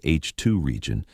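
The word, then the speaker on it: H II region: This bubble is called an HIi region, pronounced H2 region, named after ionized hydrogen.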